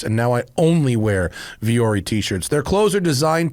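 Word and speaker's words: Vuori: brought to you by viori I love viori and it's spelled v-u-o-r-i it's not a very radio friendly brand to advertise is it because it sounds different than it is but viori is great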